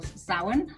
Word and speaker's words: Samhain: And it comes from the Celtic festival Samhain, as it's pronounced.